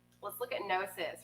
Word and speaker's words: gnosis: And it's spelled Gnosis, gnosis, right?